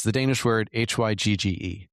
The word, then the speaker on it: hygge: but there's also the help me with the pronunciation of this word. It's the Danish word h y g g e. hygge hygge Okay.